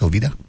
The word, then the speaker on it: Jovita: Isn't J pronounced H, Jovita?